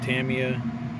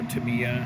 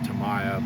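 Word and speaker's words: Tamiya: to use white primer from Tamia or tamama however you prefer to pronounce it growing up we always said Tamaya but I know that's not right but I'll be right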